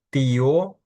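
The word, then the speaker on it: tío: І ще один нюанс, що літери і е, наприклад, вони не пом'якшують приголосні, тобто тіо, дядько, літера Т не пом'якшується.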